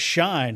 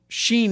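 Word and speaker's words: Shein: What about shine? Have you guys Are you on the shine? You are Sheen. That's it. I'm sorry. I always say it wrong.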